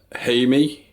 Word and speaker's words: Jaime: This man's name is, if I can get this right, Jaime. So you spell it the same way you'd spell Jamie, but pronounce it differently. So the J is pronounced differently.